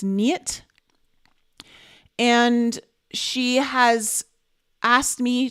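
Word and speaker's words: Neet: I could see it I believe it's spelled n-e-e-t but it's pronounced knit and she has asked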